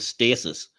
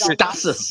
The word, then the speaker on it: stasis: Richardson and Jason Isaac's can't pronounce the word stasis stasis the heck is stus yeah what is that all about we we don't say it that way what are they we